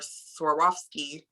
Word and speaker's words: Swarovski: gorilla glue i have to use glass or swarovski i can finally say it right rhinestones um